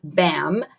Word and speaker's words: BHAM: The name of the business is Beverly Hills Aesthetic Medics, and it's BHAM, BAM. Shh, the H is silent.